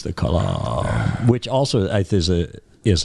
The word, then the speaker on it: Kalam: Repeatedly bring everything back to the Kalem cosmological argument until your opponent is exhausted, then hit them with second law of thermodynamic. Well, it's clear you're not a player here because you mispronounced Kalam. Kalem, Kalam.